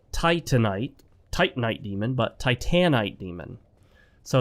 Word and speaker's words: Titanite: I think it's clearly based on the word titanium.